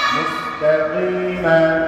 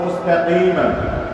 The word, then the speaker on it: مستقيم: وفيا زرقي مستقيم زبرنا মুস্তাকিমা। এখানে যখন ভেঙে ভেঙে বানান করব তখন আমরা পড়ব মুস্তাকিমা, কিন্তু যখন একসাথে মিলিয়ে আয়াত করব পুরোটা আর এখানে থাকবো তখন মুস্তাকিম এমন করব, ঠিক আছে?